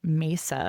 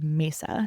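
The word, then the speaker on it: Masa: There's a huge beauty incubator called Mesa. I hope I'm pronouncing that right. It's M A SA. Mesa.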